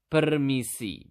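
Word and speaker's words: permisi: in basa you simply just need to say permiss okay how do you say it again per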